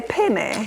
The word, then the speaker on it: penne: you right now you say penny Penny Penny correct so you can see